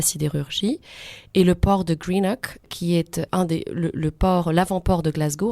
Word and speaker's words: Greenock: Alors, Airdrie, Coatbridge et Greenock. C'est ça, je les prononce sans doute assez mal, mais je vais vous laisser le faire peut-être.